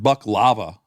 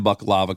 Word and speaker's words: baklava: But buck lava, it sounds like um uh lava coming out of a a male deer.